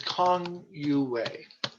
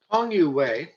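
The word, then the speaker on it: Kang Youwei: one man i want to talk about is kong you way there we are kong you a k-a-n-g you y-o-u way w-e-i hong you way there we go becomes an important transitional figure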